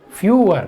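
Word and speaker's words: fewer: अब कुछ लोग इसको फीवर मत पढ़ लेना भाई, ये फीवर नहीं लिखा है, जो बुखार वाला फीवर होता है इसकी स्पेलिंग ये लिखी हुई है, आप देख सकते हैं। जो बुखार वाला फीवर है उसकी स्पेलिंग ये यहाँ पे लिखी हुई है, FEVER। ये फीवर नहीं है, ये फीवर है बुखार वाला, इसको पढ़ते हैं फ्यूअर।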